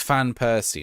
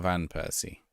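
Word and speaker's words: van Persie: Tonight, I think I think remember from Prem Football's pronunciation of van is fan in a lot of Dutch players. Is it? So it's Fan Percy, not Van Percy.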